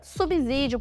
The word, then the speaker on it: subsídio: não são bem assim ao contrário do que se pensa na sílaba com o s fala-se com som de c ou seja subsídio assim como subsídio